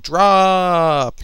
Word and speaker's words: Drooop!!: It's called Drop. You can go find it on Xbox Live Indie, and yeah, go do that. It's meant to be pronounced drop. Drop. Drop. Just call it Drop.